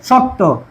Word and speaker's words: শক্ত: মত উচ্চারণ হবে এবং শব্দান্তে যদি কি যুক্তবর্ণ থাকে মানে শব্দের শেষে এখন বলছে শব্দের শেষে প্রাপ্ত শব্দের শেষে কর্মের শব্দের শেষে শক্ত শব্দের কর্মের শেষে যুক্ত বর্ণ থাকে তাহলে অন্তিম যে সেটা উকার উকারের মত উচ্চারিত হবে ঠিক আছে তাহলে এখন দেখ বলছে কি শক্ত কি বলছে শক্ত তাহলে কি হবে শত এই যে শেষে ওকারন্ত শক্ত কি হবে শক্ত এখন বলো শক্ত এই যে এরপরে ধাক্কা দিছি উচ্চারণ শক্ত এই তাহলে এইযে এখানে হসন্ত